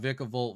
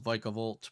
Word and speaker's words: Vikavolt: Also, I believe it's pronounced Vikavolt, but it's hard to break the habit of incorrect pronunciations.